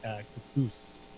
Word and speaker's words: Kaktus: Yeah, and I think they pronunciate it cactus.